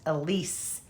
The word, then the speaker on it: Aliis: It's actually pronounced Elise.